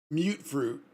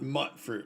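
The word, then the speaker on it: mutfruit: So I forgot who it was in the second episode, I think it was, talking about mute fruit, not mutt fruit, right? The way that it's pronounced.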